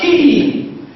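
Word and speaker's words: quay: Q-U-A-Y is pronounced as key.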